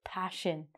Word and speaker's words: passion: So it actually sounds like this. If I was gonna spell it, I'd spell it like this. I'd spell it passion.